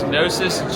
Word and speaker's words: Gnosis: how you spell nosis it's nosis g n o s i s and it's a Greek word and it's supposed to